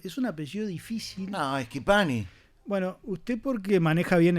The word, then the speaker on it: Schipani: No, Schipani. Bueno, usted porque maneja bien el léxico, Porque soy Pettinati. Pues Claro. soy italiano. la CH en italiano se pronuncia como una K. Ajá. Me han dicho Schipani, bueno, de todos colores.